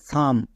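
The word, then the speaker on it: some: রকম ভাবে দেখো পি ও এল ই প সি ও এন কন এস ও এল ই সল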